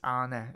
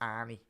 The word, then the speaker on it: Arne: obviously the Arne, it's Arne in terms of when you pronounce Arne, it's not Arnie, as the Scousers might say.